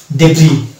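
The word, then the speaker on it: debris: এটার উচ্চারণ কি হবে এই শব্দটিতে কিন্তু আমরা এস এর উচ্চারণ করি না এই শব্দটার উচ্চারণ হয় ডেভরি ডেভ রি অর্থাৎ এস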